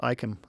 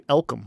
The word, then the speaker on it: Icum: He even says last name is pronounced Icum, and I just didn't even see it. I want to call you Elcum.